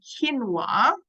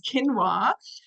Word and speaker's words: quinoa: the next one is quinoa I always pronounce this wrong because I always say quinoa but it's quinoa um it's probably the